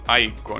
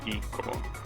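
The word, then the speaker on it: ICO: PlayStation 2 game oh it's pronounced IO not Eco all right like iPhone I guess I wonder if this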